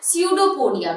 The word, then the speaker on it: pseudopodia: we pronounce it as pseudopodia, means P is silent.